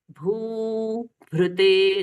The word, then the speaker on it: भूभृते: नमः समस्त भूतानां आदिभूताय भूभृते, आदि भूताय भूभृते, भूभृते, दोनों ही भू दीर्घ है।